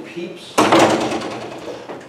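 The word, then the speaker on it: Pepys: cool so there was a fellow named Samuel peeps and this is how you can even look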